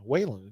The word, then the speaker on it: Whan: Yeah, Whan is the way that's pronounced.